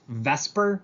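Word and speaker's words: VSEPR: It's pronounced Vesper. I know that swaps the E and the S, but we call it Vesper.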